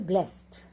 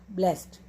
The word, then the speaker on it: blessed: In the sentence, blessed is pronounced as 1 syllable, blessed, blessed.